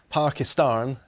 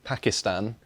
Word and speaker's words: Pakistan: a reminder to all it's pakistan not pakistan please please kind of takes away from the four-letter racist slur that the racists call us and it's how pakistanis pronounce it thank you so you've